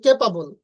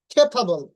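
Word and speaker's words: capable: তারপরে দেখুন আমরা বলি কেপাবল, কিন্তু এটার উচ্চারণ হবে খেপাবল, খেপাবল। আচ্ছা, খেপাবল।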